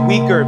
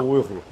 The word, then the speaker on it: Uyghur: the weaker people uhhuh well first of all it's Shang and also it's the Wu I think I'm pronouncing that right the right they say weaker because they can't pronounce those letters okay anyways we're going